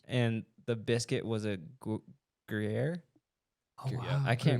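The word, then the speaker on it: Gruyère: And the biscuit was a Gruyere. Oh, Yeah. wow. I can't Gruyere.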